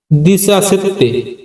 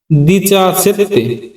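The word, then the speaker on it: diciassette: উচ্চারণ সেদি এরপরের সংখ্যা 17 17 এর ইতালির উচ্চারণ দিচা সেত্তে দিচা সেত্তে মানে 17 পরবর্তী সংখ্যা 18 18 এর ইতালির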